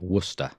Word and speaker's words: Worcester: hi John and Justin the famous source is pronounced Worcester Worcester I know it's totally counterintuitive but I guess that's because